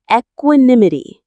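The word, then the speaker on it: equanimity: This state of mental calmness and composure, especially in a difficult situation, is called equinimity. Let's practice this wonderful word again. Equinim. The main stress is on the third syllable.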